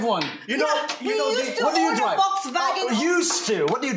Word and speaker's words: Volkswagen: Really? Volkswagen? That's how they say it in German.